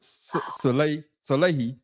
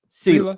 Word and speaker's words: Saleh: So is Aaron Rodgers responsible for Robert Salehi firing? See, now you're making me mispronounce it. Okay, pronounce it right. Sela.